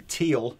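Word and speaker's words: Thiele: Yeah, we are running this through um uh what's called the teal. I never know how you pronounce teal. It's spelled t h i e l e. Teal. Teal.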